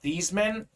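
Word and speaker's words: Theismann: name his pronunciation to Theisman you Notre Dame like PR guy so it was Theisman for the Heisman okay so his name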